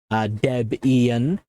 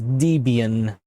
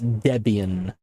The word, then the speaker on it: Debian: Debian is, of course, named after Ian Murdoch and his wife at the time, Debbie. Deb Ian, right? So if somebody pronounces Debian, they're wrong. It's Debian.